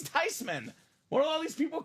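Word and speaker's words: Theismann: you know she's right that's a German name it should be pronounced tysman he saw the spelling he was like it's tysman what are all these people call him tysman for I mean come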